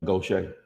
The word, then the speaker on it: Gaucher: They pronounce it Gaucher. Oh, I get it. Wow. You wouldn't know that though.